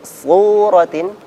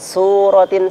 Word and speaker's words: صورة: Iya, di sini untuk suratin su maka ditebalkan. Ya, kadang kita bacanya suratin seperti sin. Nah, ini tipis ya. Maka caranya, suaranya diarahkan ke langit-langit terlebih dahulu sehingga pangkal lidahnya terangkat ya.